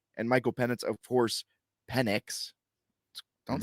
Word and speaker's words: Penix: And Michael Penix, of course, Penix. Don't say his last name wrong because you can get into some trouble.